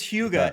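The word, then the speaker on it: hygge: like yes everyone backed off the term is Huga it's spelled h-y-g-g-e off It's gotta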